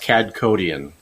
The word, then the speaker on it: Kadkhodaian: pronounce your last name it's pronounced C codian C codian okay see I